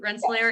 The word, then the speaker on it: Rensselaer: there is from uh sorry if I'm not pronouncing this right Rensselaer did I get it right Rensselaer Indiana yes awesome welcome team Rensselaer happy to